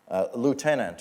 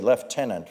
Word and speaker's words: Lieutenant: his childhood driving trains, Lieutenant, or as the British say, Lieutenant Frederick Harvey Bathurst, rolled up his sleeves and got the engine moving again.